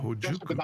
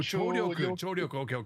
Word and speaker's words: 聴力: chojuku. It's called chojuku? 聴力。 Oh, chouryoku. Okay.